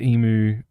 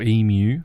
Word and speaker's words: emu: animals which is like the emu or emu we say but a lot of Americans say emu um we got the